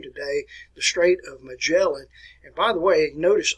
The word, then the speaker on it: Magellan: All right, now, where Magellan, and actually his name should be pronounced Magellan, and most Americans do not pronounce it that way. We call it Ferdinand Magellan, but it's actually Ferdinand Magellan.